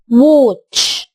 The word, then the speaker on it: watch: لما الاقي A قبلها W بخلي فيه صوت وو فأقول watch.